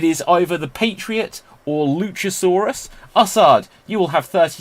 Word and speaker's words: Luchasaurus: his name is cool luchasaurus rhymes with dinosaurus because i'll smash you